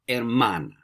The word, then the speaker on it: hermana: You'd say yo tengo una hermana. Remember, no H.